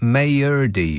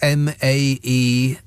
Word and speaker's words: Maerdy: Kerry from Mayerdy, which is almost certainly not how it's pronounced. Maerdy.